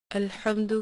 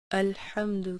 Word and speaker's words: الحمد: نے اسے 4 حصوں میں تقسیم کیا ہے۔ الحمد کہنے میں عام طور پر ایک غلطی یہ